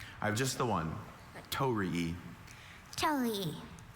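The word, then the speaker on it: torii: Tori, could I have the definition?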